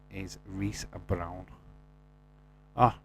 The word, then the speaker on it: Reese: Oh, you pronounce it Reese.